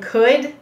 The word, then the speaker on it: could: do you hear something similar between would and could i think you might be able to make